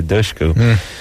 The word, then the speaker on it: Dushku: It's not Dushku, it's Dushku. Dushku. Dush, like push or I tush. think tush. Yeah. Easy for you. Tush is easy, but dush is not.